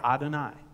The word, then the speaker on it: Adonai: aloud in the synagogue it's never pronounced you always say adonai adonai means lord right so that's why